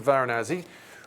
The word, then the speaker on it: Varanasi: There you go, quick recap there of our route, but let's head back to today, Ahmedabad to Varanasi, which we are hoping, the flight was expected to be leaving at, to be precise, midnight GMT or 1 a.m.